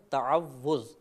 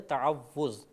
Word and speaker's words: تعوذ: مبتلا ہو جاتی ہے۔ صحیح لفظ ہے تعوذ، تفعل کے وزن پر۔